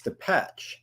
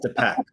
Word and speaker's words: Depeche: And she immediately, she was horrified, and she was like, no, it's Depeche. And I just flat out bluffed her. I was like, no. It's actually, in Europe, it's pronounced Depeche.